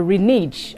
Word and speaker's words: renege: pronunciations first off the words for today are renege and recital rene is spelled r-e-n-e-g-e and resell r-e-s-i-l-e they both mean